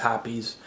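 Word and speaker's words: Hoppe's: I always pronounce it hops, but apparently it's hoppies.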